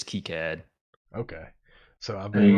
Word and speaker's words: KiCad: I know like because I sponsored KiCad Con one time and like the guy running it like I think the official pronunciation is KiCad.